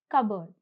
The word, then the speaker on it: cupboard: Here, the P is silent. So, the pronunciation is cupboard.